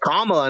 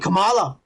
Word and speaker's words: Kamala: Kamala, yeah, that's her name, Kamala Khan. Kike. Yeah. That's how you say it, you fucking racist. You said Kamala, not Kamala.